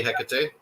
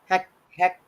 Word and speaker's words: Hecate: It's probably Hecate. Hecate. Hecate is how it's spelled. Yeah, Hecate. Yeah. Hecate. Okay, Hecate.